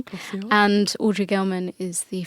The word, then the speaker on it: Glossier: So Emily Wise is the founder of Glossier, or Glossier. I always say it wrong. Glossier.